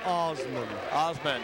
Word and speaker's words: Asman: I was told that's pronounced Osman.